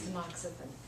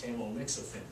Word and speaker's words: tamoxifen: It's tamoxifen. Phonetically, it's tamoxifen.